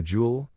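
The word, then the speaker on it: joule: in work is the jewel J pronounced Jewel the jewel is a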